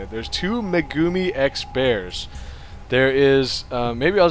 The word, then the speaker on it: megumixbear: Oh yeah, first of all, it's not Megaix Bear. I've been saying it wrong this entire time. Somebody posted a comment, I think. Um, it is actually Meumi X bear.